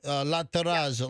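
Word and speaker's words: La Terrazza: La terazza.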